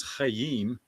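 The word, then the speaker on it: חיים: And it's nice to pronounce in Hebrew is Chaim, but it was so cool.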